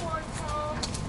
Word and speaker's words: Bortone: I tell people Bortone, but it's Bortone.